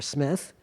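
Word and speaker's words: Smyth: Charles piai SMI or Smith when so the last name is s SM YT H when he rose in Social rank he changed the pronunciation from Smith to SMI anyways he was a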